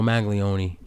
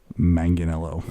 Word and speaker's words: Manganiello: Can we just Joe Maglione, you magnificent bastard? Okay, say with me. Manganiello.